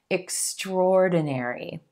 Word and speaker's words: extraordinary: I know it looks like it should be extraordinary, extraordinary, but in American English, it's like we just pull that A right out of there and emphasize the or sound. That O is in gold, rolling into the Extraordinary, extraordinary.